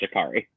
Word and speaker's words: Jacory: guy Joe Curry Brown Jakari Brown yeah I think it was expelled it spelled Jacory but it's pronounced Jakari yeah well then I